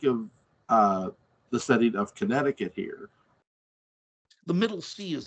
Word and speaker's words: Connecticut: you guys think of uh the setting of Connecticut here the Middle Sea is silent it is it's not connect I mean